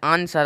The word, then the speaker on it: answer: RONG का तो sound निकला है, ठीक है, उच्चारण निकला है, लेकिन डब्लू का नहीं निकला है। ANSWER, आंसर।